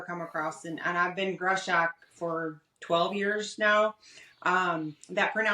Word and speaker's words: Greshock: Is it Greshock? Greshock? It's Greshock. It's Greshock, actually.